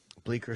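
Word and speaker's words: Bleecker: streets the c is silent um the j should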